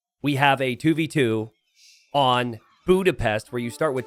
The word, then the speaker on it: Budapest: No, it's not Bedouins. It's Budapest.